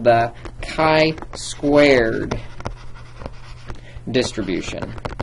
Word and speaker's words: chi: this thing called the kai Squared Distribution that's Chi and it's pronounced Kai and some properties of